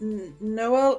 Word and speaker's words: Niall: Just watching Niall at the moment. Yeah, I think we're pronouncing it wrong. I think it's pronounced Noel, and he's actually the top rider in Norway, I'm being informed.